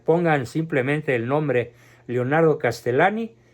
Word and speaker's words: Castellani: filósofo novelista de nombre Leonardo castellani se pronuncia castellane les ruego por favor